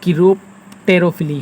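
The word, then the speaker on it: chiropterophily: है तो आप इसे कीरोप्टोटेरोफिली कहते हैं। ये कीरोप्टेरोफिली है, तो मेरे प्रोनाउंसिएशन में यहाँ कुछ मिस्टेक है, आप इसे देख सकते हैं। ये है आपका कीरोप्टेरोफिली।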